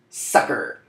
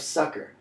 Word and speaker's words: succor: they mean starting with sucker now this doesn't mean like haha I got you sucker though it's pronounced the same way so phonetically equivalent but the meaning of